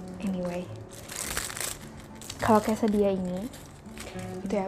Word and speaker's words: quesadilla: Anyway, kalau quesadilla ini, itu ya bacanya quesadilla. Kalau bahasa Spanyol itu double L dibacanya mirip Y.